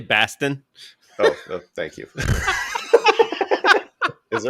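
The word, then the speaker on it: Bastian: Delta CEO uh Ed Bastion uh nice to get a name I can pronounce it's actually Bastin oh thank you is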